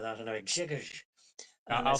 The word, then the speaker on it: Grzegorz: I wanted to say to you, you were asking there as how to pronounce Gregors, right?